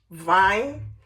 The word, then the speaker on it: Wein: Vine. The W is vine. They pronounce W. Va. Vine.